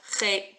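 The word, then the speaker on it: חטא: We're just going to ignore them. Chet. Done. No more.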